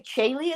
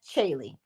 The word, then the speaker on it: Chaylee: Chaylee, is that how I'm saying it? Because, child, please don't tell me that the C is silent. Because CH is chill, okay?